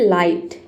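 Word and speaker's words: light: तो देखिए यहां पे वर्ड है लाइट।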